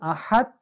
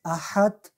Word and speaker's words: احد: اگه ما این را بگویم احد، در اینجا متوجه میشیم که دال کاملا به تی تبدیل شد. احد، ما باید سیر دال تلفظ کنیم.